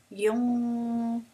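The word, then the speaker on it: يُنفِقُونَ: But I'm still not saying noon. I'm not actually pronouncing a noon sound. I'm just saying yunfiqun.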